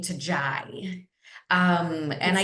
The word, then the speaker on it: Yai: And even though people still have trouble pronouncing Jai, I like it better than the full Jaindi.